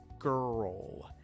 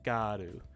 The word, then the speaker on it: girl: right after it so girl girl and of course in japanese you would generally just say garu which is if you say it like that most people won't really understand you when you're trying to